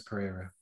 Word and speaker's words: Pereira: It's Pereira.